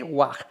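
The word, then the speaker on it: waaj: el logograma guaj, tamal, con la sílaba gua y ji, o sea, esto se lee guaj, aj guaj, la de los tamales.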